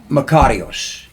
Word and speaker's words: Makarios: not your given name by your parents is macarios. I did I pronounce it right that time?